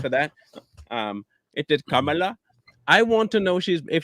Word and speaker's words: Kamala: Um, it is Kamala.